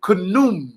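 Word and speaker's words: Khnum: from the egyptian ancient nile valley god called canoon k-h-u-n-u-m don't take my word for it write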